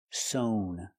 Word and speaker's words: sewn: a beautiful dress and the participle is sown with a long o sound sown sewn is a